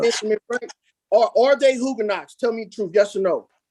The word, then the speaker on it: Huguenots: What he's talking about are the Huguenots from Virginia. I know about the Huguenots, but when He he didn't said pronounce it Huguenots, right.